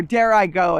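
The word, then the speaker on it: Dirigo: dgo which means IAD or dare I go is actually how it's pronounced we are the mighty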